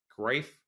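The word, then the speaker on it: Greiff: e i f f but it's pronounced grief like life thank you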